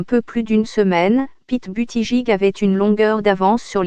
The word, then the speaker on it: Buttigieg: Buttigieg prononcé Buttigieg a fait son coming out en tant qu'homosexuel à 33 ans et a épousé son compagnon chaste en juin 2018.